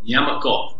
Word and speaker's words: Nyamakop: most people know, but I like when you pronounce it. So can you tell everyone about Nyamakop and exactly where this comes from? Nyamakop is a portmanteau word.